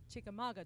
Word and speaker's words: Chickamauga: I'm from Chickamauga, Georgia.